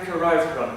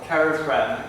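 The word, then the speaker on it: Carrifran: And we managed to raise enough money, mainly from private individuals, to buy the valley of Carilfran, or Carifran. You can pronounce it any way you like.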